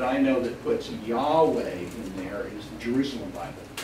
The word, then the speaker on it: Yahweh: yo hey Bob hey in Hebrew Yahweh is how it's usually pronounced in english this is God's first